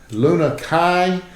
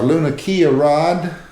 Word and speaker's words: Lunakia: the uh new 2018 Luna Kai or luna Rod U I think the pronunciation is Luna Kai in Japanese uh it was basically